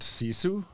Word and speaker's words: sisu: Yeah, my So, I love the word sisu. Okay. And it's spelled s i s u.